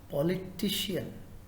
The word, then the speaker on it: politician: That is politician. Politician. Third word. So the third syllable.